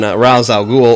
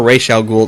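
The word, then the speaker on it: Ra's al Ghul: so F focused on Rous Al ghoul or Ral ghoul depending upon how you want to pronounce it which I love who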